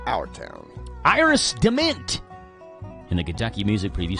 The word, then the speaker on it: DeMent: I would say it Iris Dement. Dement?